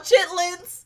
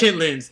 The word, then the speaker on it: chitterlings: fried it's unkilled and it's called chitlins otherwise known as chitlins it's boiled wow i